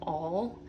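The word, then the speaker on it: awl: like this this is called an all um I think it's spelled a WL and this is a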